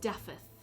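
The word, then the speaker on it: Dafydd: It should be Daffod. There's no V in Welsh. Okay. Pronounced Daffith. Daffith.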